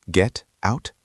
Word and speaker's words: get out: Do we say the t clearly? Get out. No, this is American English, so we use the flap t. The t at the end of get is between two vowel sounds.